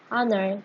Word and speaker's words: honor: The first letter of the word honor, for example, is a consonant, but it's unpronounced. Instead of its spelling, the word honor begins with a vowel sound.